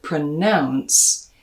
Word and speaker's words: pronounce: life as well now the trick here is that in the verb pronounce you have an ow diphthong like in mouth in the noun pronunciation that second syllable becomes an uh like in stuff pronunciation probably probably this